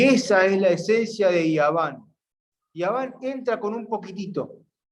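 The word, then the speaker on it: יוון: Grecia, en hebreo se dice Yaván, y se escribe con la Yod, con la Vav y con la Nun.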